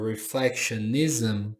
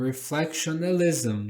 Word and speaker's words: reflectionism: Eh, então ele falou a palavra reflectionism como reflectionalism. Então, tornou a palavra mais longa.